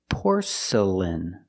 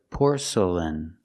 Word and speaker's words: porcelain: The next two syllables are not stressed. They are relaxed. Make the sound uh uh por porcelain.